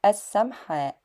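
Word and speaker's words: السمحاء: And I think the printed word is correctly pronounced as as-Samha', and it is said as ash-Sharia Samha'.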